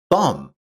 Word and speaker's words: thumb: For example, knock is pronounced as knock and thumb is pronounced as thumb.